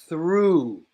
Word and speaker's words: through: got it good job through through I know it's spelled very complicated but not complicated pronunciation Rue through the car goes through